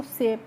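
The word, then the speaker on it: safe: ई का तो प्रोनाउंसिएशन नहीं करना है। और जो SAF ही है तो उसको हम क्या पढ़ेंगे? सेफ, यानी कि जो दूसरा कंसोनेंट होगा उसका उच्चारण वही होगा। ठीक है, तो इसीलिए हमने इसको सेफ पढ़ा है।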